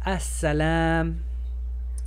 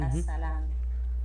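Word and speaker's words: السلام: Aquí es as-salam. Ah, porque está sola alif aparte. As-salam. La L no se pronuncia porque hay una regla especial donde la S se come la L.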